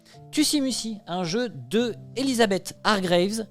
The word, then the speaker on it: Tussie Mussie: Ça se prononce Tussimusi.